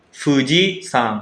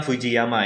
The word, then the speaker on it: Fuji-san: Contohnya Gunung Fuji, itu dibacanya Fuji-san, bukan Fujiyama ya.